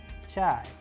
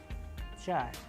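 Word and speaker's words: чай: And how do we pronounce them? With the help of Russian word chai, chai, which means tea.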